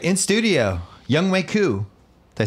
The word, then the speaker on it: Younghoe Koo: All right, in studio, Younghoe Koo.